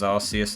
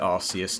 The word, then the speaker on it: Arceus: focus is on legends arceus at the moment yes i pronounce it arceus not arceus don't get you knickers